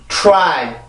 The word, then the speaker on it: try: 왜 틀리냐면, 자, T 발음이 영향을 받아요. 어떤 영향을 받나요? R 발음의 영향을 받죠. 그죠? 내가 T 발음을 따로, R 발음을 따로 발음을 하면 상관이 없어요. right 이렇게 발음을 하면 상관이 없지만 지금 여기서 T 발음은 길어질 이유가 전혀 없단 말이에요. 그러면 그 T 발음만 아주 짧게 발음을 해놓고 R 발음으로 넘어가 주게 되는 건데, R 발음을 할